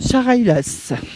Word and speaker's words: Chareylasses: Je vous laisse le prononcer parce que moi je n'ai pas l'accent local. Charailas.